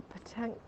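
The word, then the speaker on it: pétanque: Look like a petanque thing there for throwing those big silver balls around.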